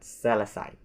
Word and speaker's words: selesai: So there are 3 syllables in this word, which is se, and then le, and sai. It is the same as the previous word, which is lai, but this word is sai.